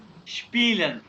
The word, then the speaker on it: spielen: एसपी जहाँ भी आएगा श की बात, स्पीलन, स्पीलन, ठीक है Spielen.